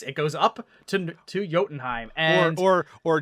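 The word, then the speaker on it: Jotunheim: jordan heim yes it goes up to to yotenheim and or or jottenheim jottenheim yeah okay j-o-t-u-n-h-e-i-m jottenheim jo unheim a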